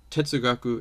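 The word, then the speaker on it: 哲学: the term is pronounced so it's the same term in chinese and japanese but it's pronounced differently it's pronounced tetsugaku in japanese and jeshui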